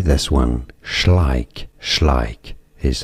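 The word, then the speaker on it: Schleich: Google that how do you say this one schlik schlik is how you say it schlik and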